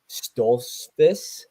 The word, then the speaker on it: Stoltzfus: But anyway, next fight we got Bruno Ferreira versus Dustin Stoltzfus.